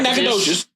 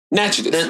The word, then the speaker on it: Natchitoches: Nacogdoches? Not Nacogdoches. Natchitoches. There's a difference.